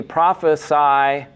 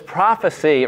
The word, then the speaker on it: prophecy: says whether there be prophesy it will cease right and she didn't know it was prophecy right that it's pronounced differently if it's the noun versus the verb right i i prophesy